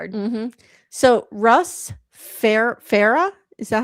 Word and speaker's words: Faria: So Russ Farah, is that how you say it? Faria Yeah.